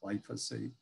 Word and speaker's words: glyphosate: But this is the chemical, this part of the molecule from glycine and this part from phosphate is pronounced glyphosate.